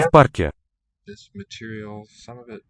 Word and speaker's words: в парке: Я в парке. Yeah, parque. Okay, it's written with a v, that preposition, single consonant, and because Парке. voiceless p follows, it is pronounced as an f here. Я в парке.